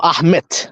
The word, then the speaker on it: Ahmet: Let's say his name is Ahmed. They had to change that name to Ahmet with a T in the end, because that sounds Turkish, because that's Turkish, a Turkish pronunciation.